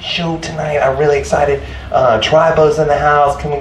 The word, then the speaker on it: Trai Bo: Tribo's in the house. Can we get a what? I'm saying it wrong. Tribo.